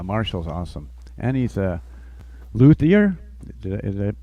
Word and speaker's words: luthier: no idea yeah Marshall's awesome and he's a luthier is it pronouncing that correctly yep yes sir yeah it's